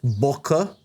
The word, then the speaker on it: bokeh: back in the day bokei was considered the flaw uh and let's just get it out of the way real quick bokeh actually correctly pronounced boka I think comes from Japan and it it it